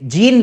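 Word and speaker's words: Jean: तो ये हमारे साइंटिस्ट थे, इनका नाम है, वैसे जीन लिखा हुआ है लेकिन इसको प्रोनाउंस किया जाता है जॉन, लेकिन बाद में आप ऐसा एग्जाम में ऐसा जॉन लिख के आ जाओगे, इसलिए अपन इसको जीन ही बोलेंगे, है ना।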